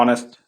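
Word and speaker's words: honest: तो इसका मतलब है ऑनेस्ट ओ एन एच ओ एन ई एस टी ऑनेस्ट spelling होता है एच ओ एन एस टी ऑनेस्ट लेकिन हम लोग उसको प्रोनाउंस करते हैं ऑनेस्ट ऑनेस्ट प्रोनाउंस करते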